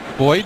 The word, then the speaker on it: buoyed: How do you say that? Boyd. Boyd? Yeah.